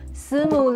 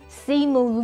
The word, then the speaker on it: Simu: For the I in si, we don't really move our tongue when pronouncing it, because it's not the same as I in B, P, Mi, Li, etc. And it's a different vowel basically when we say it.